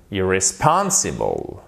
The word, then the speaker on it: irresponsible: Pourquoi? Parce que c'est aussi un accent tonique, mais il est secondaire. Irresponsible. Donc, c'est pas irresponsible, mais c'est irresponsible.